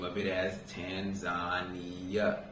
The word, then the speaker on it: Tanzania: a lot of the locals told me to pronounce the name of it as Tanzania Tanzania however most Americans will call it Tanzania right now with that being said let's talk